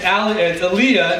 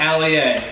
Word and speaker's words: Aaliyah: It's Aaliyah, not Ali A.